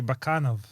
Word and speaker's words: Bakanov: Actually, my name is technically uh Bakanov. Bakanov. Yeah, the accent is different. It's a second syllable that you have to hit.